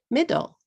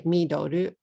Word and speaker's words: middle: You don't want to say midoru. That will be 3 syllables. Those are both 2-syllable words.